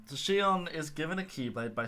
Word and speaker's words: Xion: And yes, that is the correct way of pronouncing it. I've heard people butcher that name. Exion. No. So Xion is given a Keyblade by stealing Sora's memories from Roxas.